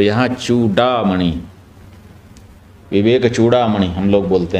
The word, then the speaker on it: चूडामणि: समझ में आ गई जब संस्कृत के अनुसार आप उच्चारण करेंगे तो क्या होगा चूड़ामणि और हिंदी में अपने लोग चूड़ामणि कह देते हैं अधिकतर लोग संस्कृत में भी चूड़ामणि कहने लग जाते हैं लेकिन इस तरह का ध्यान रखने से और अच्छा होगा विवेक चूडा मणि यह शुद्ध उच्चारण है यह जो विवेक